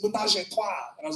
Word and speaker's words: ménage à trois: And he was like, it's not that L to pronounce it ménage à trois.